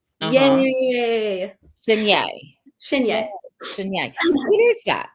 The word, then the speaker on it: Shinyei: So to pronounce my last name, I just go like this. Shinyei. Shinyei.